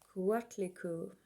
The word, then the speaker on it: Coatlicue: Coatlicue. That's how it's pronounced.